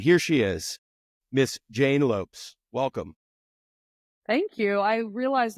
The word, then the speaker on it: Lopes: call them out but they constantly said Lopez and I'm like I I don't get it but yeah yeah I